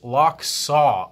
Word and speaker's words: Lochsa: here so that we can focus on the lock saw so the knife is spelled L o CH si but it is pronounced locks oo l as in LOC que si W and